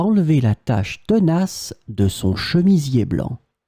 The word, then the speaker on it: tache: In this lesson, we will see together two words that are written differently but pronounced the same way. Tâche, tâche. So let's start with the first one, tâche. Elle a réussi à enlever la tache tenace de son chemisier blanc.